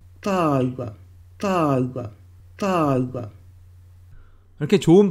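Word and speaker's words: tāua: 타우가, 타우가, 타우가. 이렇게 좋은 발음은 도저히 흉내낼 수가 없습니다.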